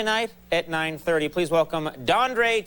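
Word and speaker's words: Dondré: name but the name it's dandre yes is that is spelled that for me it's d o d o n d r e and there's an accent over the E an accent on your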